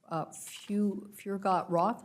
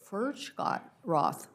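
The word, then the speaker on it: Furchtgott-Roth: Furgot-Roth, am I saying that correctly? No. Tell me the pronunciation. Furgot-Roth.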